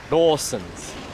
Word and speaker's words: Lawson: Here's the thing though, if you actually say Lawson to a Japanese person, they're not going to understand what you're talking about. You actually have to use the Japanese pronunciation. Lawson's. Lawson.